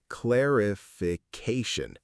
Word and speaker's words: clarification: clarification clarification It's a long one, five syllables.